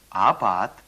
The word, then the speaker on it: апат: П произносится почти как Б, только немного глуше. Апат, Обед, шапа, жаба, колбаси, колбаса.